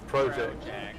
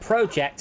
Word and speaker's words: project: It is, but bear in mind that project and project, one's a noun, one's a verb.